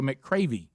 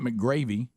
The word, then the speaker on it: McCravy: her heart c-r-a-v-y cravy so mccravy right sounds good it's not mcgravy mccravey mccravy